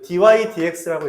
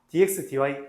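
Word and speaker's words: dy/dx: 모으면은 얘네들이 만들어지고 그 f'x, y', dy dx, 이거 dy dx라고 읽어요. 알았어? dx분의 dy 아니고요. dx dy 아니고요.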